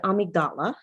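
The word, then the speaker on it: amygdala: have something called the oh and i always pronounce it incorrectly but it is the amigdala and that's a-m-y-g-d-a-l-a i do believe that it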